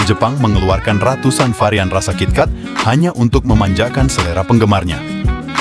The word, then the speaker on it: KitKat: Pelafalan KitKat bagi orang Jepang mirip dengan kata kitokatsu yang berarti pasti berhasil atau pasti menang.